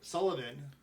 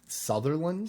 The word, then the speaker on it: Sutherland: right, but when they have like Kiefer Sullivan, I can't get that name right. Kiefer Sullivan. How do you say it? Sutherland?